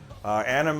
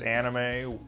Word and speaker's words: anime: anime, which I understand the way I'm saying it is anime when the actual correct pronunciation is anime.